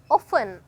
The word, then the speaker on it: often: මේ වචනේ pronounce කරනකොට බලන්න අර t අකුර silent වෙලා තමයි මම pronounce කරන්නේ. often කියලා කියන්නේ නැහැ. often කියලා pronounce කරන්න.